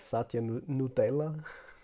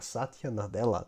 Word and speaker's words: Satya Nadella: That's the thing, like Satya Nutella.